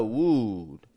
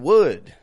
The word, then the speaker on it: would: And now a side note on that W-O-U-L-D, that L is silent. It doesn't get pronounced at all.